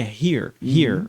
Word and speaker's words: here: Então ele não é ear, é here, ok?